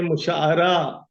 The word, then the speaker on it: مشاعرہ: بات کرتا چلوں ہوں کہ مشاعرہ عین کے زبر کے ساتھ ہے، ہمارے یہاں مستعمل زیادہ عین کے زیر کے ساتھ ہوتا ہے، صحیح تلفظ عین کے ساتھ زبر کے ساتھ ہے مشاعرہ۔ اس لفظ سے جب